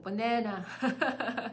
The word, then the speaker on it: banana: Piano, piano, banana, banana, 바나나, 바나나 아니고 banana.